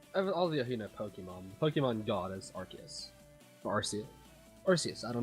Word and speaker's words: Arceus: Arceus is pronounced different ways in anime, both Arceus and Arceus. I say Arceus because that's what I was told by a Japanese friend that I met.